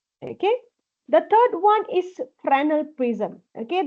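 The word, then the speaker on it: Fresnel: The third one is frenal prism. Okay. The pronunciation of this prism is very important. S is silent. It is not fal prism but it is frenal prism.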